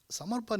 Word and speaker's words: Samaran: summer and the N the ending n has two versions of pronunciation those of us in the South would say Samar whereas those in the north say Samar pun but it's just Samar pun okay um Samaran is